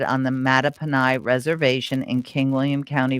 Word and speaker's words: Mattaponi: Mattaponi? Yes, Mattaponi. Okay, because when I first arrived in Virginia, I wanted to say Mattapony, like horse, right?